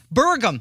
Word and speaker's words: Burgum: Doug Bergman? Berman? How do we say his name? That's how lost cause he is. Burgum.